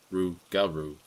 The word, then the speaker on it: rougarou: was old legends of the rougarou which is pronounced rougarou I told my grandpa about